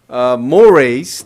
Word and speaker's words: mores: Mores, that's how it is pronounced, is more strongly held norms.